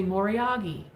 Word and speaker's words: Moriage: You hear one of them say Moriagi. Moriagi. If I said Moriagi and I saw the word Moriage, I would think I'm sounding like an idiot. Because who says Moriagi? Well, they do in Japan, apparently.